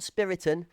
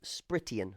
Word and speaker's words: Spritian: It's not Spiritin. It's not Spitian. It's not Sprit I am. It's Spritian. Okay. Sprit for short, spritian for the correct pronunciation.